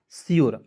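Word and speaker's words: sure: यहां पर दोस्तो देखेंगे एस का प्रयोग आधा स के रूप में कीजिएगा यू आर ई का उच्चारण दोस्तों योर के रूप में करेंगे क्या हो गया सियोर अब दोस्तों आप बताइए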